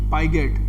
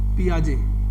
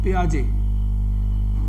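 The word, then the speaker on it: Piaget: पियाजे का सिद्धांत था ना, वो ये पाइगेट, PIGET है इसका सही spelling, PIGET, पियाजे, PIGET, पियाजे, T silent, Lionel पियाजे।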